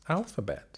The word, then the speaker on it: alphabet: I recognize there's another sound in there that we've been talking about today. Yes, there is. Sneaky Schwa, isn't it? The sneaky Schwa, indeed. Right. With the emphasis on the first syllable, A or A.